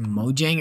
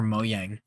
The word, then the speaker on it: Mojang: big fight going on if it's pronounced Mojang or moyang I see mojing because that's what I'm more used to that's what I always called them you can't get from